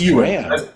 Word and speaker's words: Ewan: No, he said UN. UN, yes. It's Ewan, as in Ewan Craig McNay, but no worries.